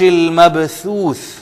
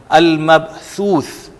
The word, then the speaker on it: المبثوث: یکون الناس کالفراش المبثوث۔ یہ دونوں ثا مبثوث، ان کو انڈرلائن آپ کر لیں، ان کے تلفظ میں آپ نے تھوڑی سی محنت کرنی ہے۔ المبثوث، المبثوث، یہاں پر عزیزان گرامی ایک چیز، ثا اور یہ جو سین یہاں آیا ہوا ہے الناسو، آپ کو فرق یہ نظر آئے گا کہ سین میں ہلکی سی سیٹی کی آواز آ رہی ہے، جبکہ مبثوث یہ سیٹی